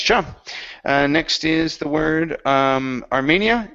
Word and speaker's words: Armenia: Next is the word Armenia. Instead of America, this is Armenia.